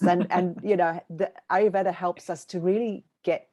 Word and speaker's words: ayurveda: of overview of what ayurveda is it's a awkward one to pronounce in English it's got that little r in the middle there that you kind of don't really hear so it's made up